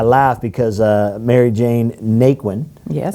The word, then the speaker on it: Naquin: because uh mary jane naquin yes as it's pronounced in texas and nakeen out in louisiana indiana there you go